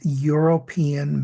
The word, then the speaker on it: European: Well, even though European starts with an E, which is a vowel, because of the way this word is pronounced, it starts with a ya, which is not an open vowel sound.